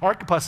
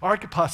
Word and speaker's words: Archippus: I know that sounds like a strange pronunciation, but Archippus is actually how it's pronounced, and I actually forgot that when I first read it. Archippus is how it's pronounced.